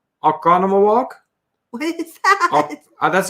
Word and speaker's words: Oconomowoc: Nancy phonetically spelling the correct pronunciation, Oconomowoc. Oconomowoc. You actually pronounced it walk, the last one.